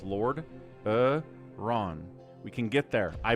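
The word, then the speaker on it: Lordaeron: It's three syllables. Lord Ron.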